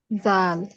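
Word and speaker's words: ذال: জোরে জোরে জোরে জাল এ অক্ষরের নাম হলো জাল জিহ্বার আগায় লাগাতে হবে বলেছি না জিহ্বার আগা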